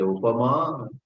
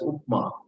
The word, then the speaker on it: Upama: Kalidasasya upama anyasya kavehe kasyachit arthagauravam. Then someone else Padalalityam. And then somebody had all the three, some shloka. Upama. Please, for heaven's sake, don't pronounce it as Upma. Upama.